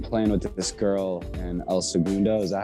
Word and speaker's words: El Segundo: cool i've been playing with this girl and el segundo is that how you say it yeah yeah